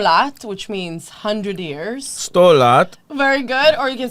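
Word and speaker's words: sto lat: 100 lat.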